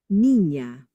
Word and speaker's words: niña: mañana, But then when we add the squiggly, right, the tilde, that's when it becomes like a NY, like canyon. Nya, nya, nya. Okay, so let's listen. señor, baño, niña, Okay, so once again,